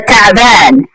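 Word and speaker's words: تعبان: এখানে দেখেন তাবান তাবান বললে হবে না। অনেকে আনা তাবান বাংলা উচ্চারণ দেখে আপনি যদি শিখেন এটা ভুল হবে। আনা তাবান বললে হবে না, এখানে একটা আইন আছে আরবিকের মধ্যে, এটা বলবেন আনা তাবান।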